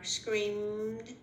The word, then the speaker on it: screamed: The ones where ed sounds like a D are screamed and arrived.